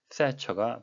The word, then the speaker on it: Thatcher: 흔히 말하는 번데기 발음이 되겠습니다. 우리말로는 대처라고 쓰지만 영어식 발음은 세처가 되겠습니다.